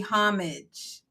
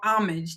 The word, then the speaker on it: homage: we need to give pay homage or homage, depending on how you pronounce it, to the number one unblacked.